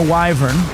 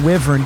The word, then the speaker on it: wyvern: Is there a sloth, there's a bear, and a wyvern or wyvern, depending on how you uh pronunciate it.